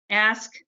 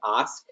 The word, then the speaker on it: Ask: Ask, Here, I'll try to correct the last name pronunciation is Osk, so it's Osk. kind of like Osmus.